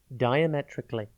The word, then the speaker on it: diametrically: tv today's word is diametrically it is pronounced and it is spelt d i a m e t r i c a l l y think dire metric and then ally diametrically means completely or